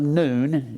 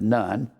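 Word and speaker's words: Nun: Israel where Joshua who is the son of noon it's more properly pronounced known instead of none noon and Joshua was the son of noon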